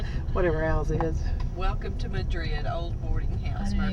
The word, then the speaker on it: Madrid: spelled M-A-D-R-I-D, but they pronounce it Madrid. Madrid. In New Mexico.